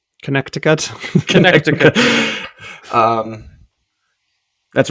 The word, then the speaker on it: Connecticut: I found out that Connecticut has three C's who pronounces the second C Connecticut Connecticut um that's right